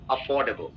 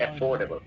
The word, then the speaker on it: affordable: Pronounce अफोर्डेबल, नॉट अफोर्डेबल.